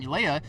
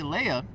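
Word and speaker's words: Illaoi: And by the way, sorry to Thresh, or I was saying Leia. It's actually Ilea. So now I know how to say it correctly, so I won't sound too dumb.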